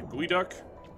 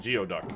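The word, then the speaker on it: geoduck: huge is that a GU duck it's not geod duck I can tell you that much it is a very wrong pronunciation oh good those there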